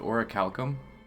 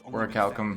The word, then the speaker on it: orichalcum: is next to impossible is that how you say it orichalcum I always thought it was a lickle 'm but a rare metal that's orichalcum and ancient ruins it's